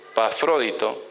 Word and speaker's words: Epafrodito: Entonces, Pablo reconocía que el servicio de Timoteo y de Epafrodito, así se pronuncia, la E esa es como decir en griego, ¿no?